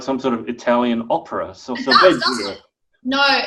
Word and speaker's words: solfeggio: But I actually cannot sleep anymore without solfeggio sounding in the background.